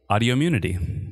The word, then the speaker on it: Audiommunity: oh because it's Audi it's the same number of syllables as autoimmunity autoimmunity yeah that's what I thought